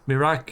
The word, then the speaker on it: Imrik: Okay, so the name Imrik is funny to us Czech people because it's phonetically identical to the name Mirek, which is an endearing